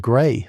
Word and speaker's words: Gray: Gray, S muttered. Big shot, maybe government. Pronunciation gray. Standard.